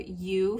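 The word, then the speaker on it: Ewe: was buying fabric online really love you fabrics which is spelled like the mama sheep e-w-e and um or they're not i'm sorry they're you fibers not fabrics but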